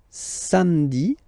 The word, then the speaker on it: samedi: Then samedi, samedi, don't insist on the hein? Samedi, samedi, all right?